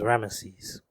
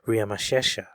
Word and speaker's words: Ramesses: the consonants so his name is most commonly pronounced as ramesses however we have his name written on the